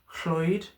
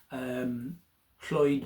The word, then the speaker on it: Llwyd: And indeed my surname, Floyd, though it's not exactly like the Welsh Llwyd, but it's been seen as being almost like a transliteration, almost like the English people not being able to pronounce the double L sound, which makes that sh sound. So it's been sort of transliterated into the F sound, so Floyd.